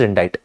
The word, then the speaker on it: indict: Actually, the pronunciation is indict.